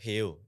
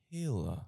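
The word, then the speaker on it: Hale: And uh basically he was already running this restaurant called Hail. It was healthy. It was this healthy burger brand. How do you spell that? H A L E. Hail.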